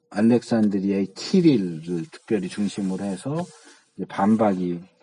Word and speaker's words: 키릴: 그러니까 이제 이 키릴, 알렉산드리아의 키릴이라고, 이게 C가 라틴어로 뭐 C로도 발음하고 키로도 발음하고 그러거든요. 스로도 발음하고. 그래서 이 키릴이 이제 너는 양자론자야 라고 얘기해.